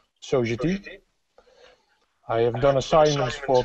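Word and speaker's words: Sogeti: For the past 12 years, I've been working for Sogedi, which in Holland is actually pronounced the French way, Sogedi.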